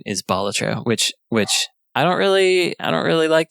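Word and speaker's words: Balatro: it any way you want but the official pronunciation is bolatra which which I don't really I don't really like that it's pronounced magic the gathering.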